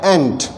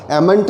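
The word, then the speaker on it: ain't: एम नॉट काफ़ी interesting है, इसका जो कॉन्ट्रैक्शन है वो हो रहा है एंट, जो चींटी वाला एंट प्रोनाउंसिएशन है वही होगा, एमेंट नहीं होगा, ये होगा एंट।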